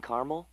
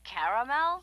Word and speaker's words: caramel: I'd like it in caramel. Oh, the caramel?